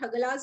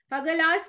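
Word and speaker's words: Hagalaz: ठीक है, हेमडल्स उसको बोला जाता है, या फिर हगलास बोलते हैं. ठीक है, उसका फर्स्ट जो सिंबल होता है, दिस इज लाइक एच. ठीक है, एच, थोड़ा एच जैसे होता है ये वाला. हगलास का स्पेलिंग है एच ए जी ए एल ए जेड.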